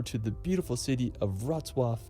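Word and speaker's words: Wrocław: the beautiful city of rwwa I mean it's such a trucky pronunciation now located in Western Poland about about a three hours drive I would have read that as raw Claw from krao rzw is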